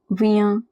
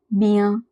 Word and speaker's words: bien: IEN is always at the end of a word, it is pronounced as ia. For example, rien, bien, bien.